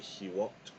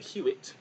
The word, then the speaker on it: Hout: So hope you learned something, and it's not HOOUT, it's HOOUT, because he is from Quebec, and of course they would pronounce HOOUT, and not HOOUT, because HOOUT is more of a Canadian sounding of the name, but he's from Quebec, so it is Joseph HOOUT.